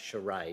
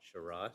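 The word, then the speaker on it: Sharayai: s-h-a-r-a-y a-i i'm sorry it's pronounced charade isn't it not shirai thank you um and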